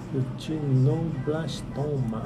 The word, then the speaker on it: retinoblastoma: Retinoblastoma. Isso. Essa é a pronúncia certa.